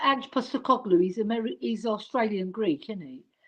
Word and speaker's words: Postecoglou: Yeah, but it's actually pronounced Angelos Postecoglou, because the P is a B. So it's Postecoglou. But when you Yes. pronounce it in English, you say Postecoglou.